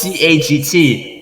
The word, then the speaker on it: CAGT: pronounce it as c-a-g-t i would pronounce each letter because i thought it sounded cooler and i thought it